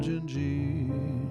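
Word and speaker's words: Dindi: So, but this is a song by Antonio Carlos Joim called Gingi. It's Portuguese name of a of a girl. D I N D I. And in Portuguese you pron pronounce that gingi.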